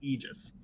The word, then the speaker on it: Aegis: theoretical correct pronunciation is Aegis no both of them are correct Aegis is American English pronunciation that that is I